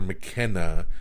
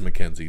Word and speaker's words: McKenzie: in this movie tom tomasin mckenzie or mckenna i'm trying to remember how to even pronounce her name mackenzie it is mackenzie tomas and mackenzie um